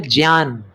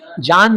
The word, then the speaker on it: ज्ञान: जो थोड़ा ज्यादा अच्छा हिंदी का उच्चारण करते हैं ना वो लोग ज्ञान को बोलते हैं ज्ञान। जान नहीं ज्ञान।